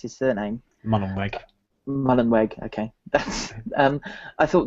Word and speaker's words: Mullenweg: I thought the interesting thing was Matt, however you pronounce his surname. Mullenweg.